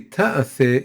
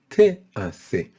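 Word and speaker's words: תעשה: It doesn't say ta'aseh, it says te'aseh, which translates as for 6 days, work shall be done or may be done.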